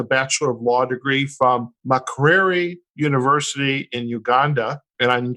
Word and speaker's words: Makerere: And the university in Uganda, how do we pronounce that? Makerere University. Makerere University.